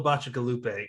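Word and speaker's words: Bacigalupi: He writes sci-fi, and I had to look up how to pronounce it, but I finally nailed it down. Paulo Bacigalupe, and it doesn't look like that, at least to me.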